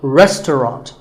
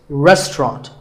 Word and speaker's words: restaurant: english learners trouble but don't let the fancy spelling confuse you the second syllable is just ta and the third is rot so restaurant in british english you might hear just two syllables restaurant that is also correct after you eat at